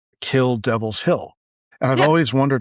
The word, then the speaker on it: Kill Devil Hills: I I said it wrong. It is Kill Devil Hills. I was saying Kill Devil's Hill. It's Kill Devil Hills.